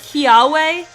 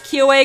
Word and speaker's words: Kiawe: Now, apparently it's Kiawe. I guess, do we know that from the anime? I don't know. Everybody seems pretty confident that it's Kiawe, but I was used to pronouncing it as Kiowe because that was the first way I thought to pronounce it in my head.